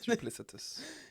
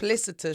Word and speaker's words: duplicitous: wrong so many times sorry jupitus yeah that's just your behavior is ripus you sound like you're saying platypus yeah it's like duplicitous duplicitous duplicitous do I